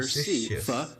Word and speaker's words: facetious: Facetious. It's like you're just saying the letter Facetious. C, facetious. And that first syllable has that schwa, Facetious.